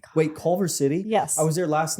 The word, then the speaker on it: Culver City: Am I saying it wrong? Culver City. I don't sure. You know what? It's fine because I bet you there is a Clover City. Culver. Culver.